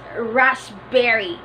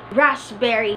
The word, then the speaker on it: raspberry: Coco Coco Coco coco our last word is raspberry raspberry we have the silent P there sup grasp berry but Russ Berrie raspberry raspberry okay sorry a reversal it